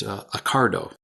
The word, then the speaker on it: Ocado: I'd never heard of it, but apparently it's pronounced Accardo.